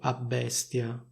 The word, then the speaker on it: abbestia: Si può scrivere così a bestia oppure tutto attaccato a bestia. In ogni caso si pronunciano due B, cioè una doppia B.